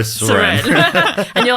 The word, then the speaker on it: Soren: Suren? No, Soren.